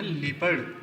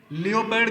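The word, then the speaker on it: leopard: You will know it इज़ अ लीपर्ड, ये लीपर्ड है, ये तेंदुआ है। इसका जो प्रोनाउंसिएशन वो है लीपर्ड, लेपर्ड भी कहते हैं, लीपर्ड भी कहते हैं। लियोपर्ड गलत है, लियोपर्ड मत कहना, वो गलत है।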